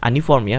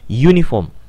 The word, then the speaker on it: uniform: misalnya uniform seragam Hai uniform juga dibacanya bukan Ani formia bukan unifont bukan any form dibacanya uniform maka dia enggak boleh